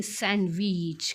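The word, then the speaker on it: sandwich: बघा तो शब्द आहे सँडविच काय आहे बघा सँडविच तर विद्यार्थी मित्रांनो आता बघा हा जो काही सँडविच शब्द आहे ्यामधील डी हे अक्षर आहे सायलेंट काय आहे बघा डी हा सायलेंट आहे आपण चुकीचा उच्चार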